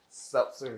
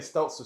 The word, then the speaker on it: seltzer: Seltzer. Yes. The How you say it again? Seltzers. Because It's seltzer. I've been saying Stelzer, so apparently I've been saying that wrong for a long time.